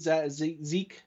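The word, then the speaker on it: Zech: a couple guys late zeke or it could be pronounced zek z-e-c-h mcpherson from texas tech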